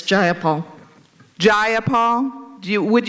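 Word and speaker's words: Jayapal: you agree with Miss ja Paul that there was no takeover was just if you're going to say my name please say it right it's jaia Paul Gia Paul do you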